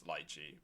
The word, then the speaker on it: Lychee: I realize I'm mispronouncing Lychee. It's Lychee, but old habits die hard.